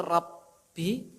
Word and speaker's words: rabbi: Nah, ini yang perlu ditanbih adalah subhana rabbi, itu rabbi, baknya itu apa Pak? Tasydid. Nah, ini hati-hati ya, kadang-kadang kita itu ya bacanya ya subhana rabbi. Apa Pak? Subhana rabbiyal, ya kan? Nah, ingat rabnya itu adalah di apa? Di tasydid, subhana rabbiyal azim sama subhana rabbiyal a'la.